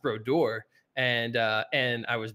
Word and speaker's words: Brodeur: that means but um my name is pronounced bror and uh and I